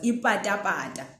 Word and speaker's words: ipata-pata: The example I gave earlier was ipata-pata. That's the pa.